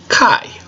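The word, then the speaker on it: καί: Okay, so it makes the long I sound like an aisle. And it has a kappa in front of it. And kappa makes a K sound. Kappa. So you have K-I, Kai.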